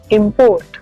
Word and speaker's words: import: इम्पोर्ट, अब ज्यादातर आपने अब गौर किया होगा कि हम सारे वर्ड्स को एज वर्ब प्रोनाउंस करते हैं, एक काम की तरह, लेकिन जब इन्हें नाउन की तरह यूज किया जाता है तो इनके फर्स्ट सिलेबल पे स्ट्रेस दिया जाता है।